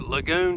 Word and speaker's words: Lagun: get one of those I think they pronounce it lagoon tables but man those